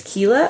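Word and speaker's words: Kiela: she is originally from her name is Kela I think is how you pronounce it it's k i e l a so they escape back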